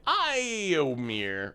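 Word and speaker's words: Éomer: It's pronounced Iowin and Iomir.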